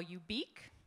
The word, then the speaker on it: ubiq: new word i call you beak you pronounce it like unique or if you prefer